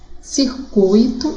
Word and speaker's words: circuito: Então, as sílabas a serem circuladas seria o in, de ruim, o bel, de nobel, circuito seria o cui e o condor, o dor, ok?